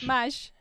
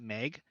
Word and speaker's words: Mahj: Mahj, right? Yeah, Yeah. yeah. It's just yeah. I used to actually have a different name, but people would like pronounce it Meg, but it was supposed to be Maj, and so I changed